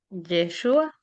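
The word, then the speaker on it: ישוע: Yeshua.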